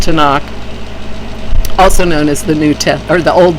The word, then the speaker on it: Tanakh: anagram I don't know but TMK which is pronounced Tanakh also known as the new test or the